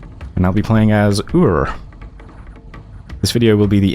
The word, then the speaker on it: Ur: Sometimes I just pronounce it as Yor, because it's kind of funny and also easier to say. My accent doesn't exactly pronounce the letter R very strongly, so Ur is just kind of awkward to say.